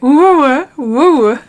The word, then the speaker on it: WOAH: it is whoa it's how you say it whoa skincare and this is the mini beauty box